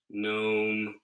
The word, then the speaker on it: gnome: life is uh the gnome world known yeah like it's spelled like like the garden gnomes you're thinking of except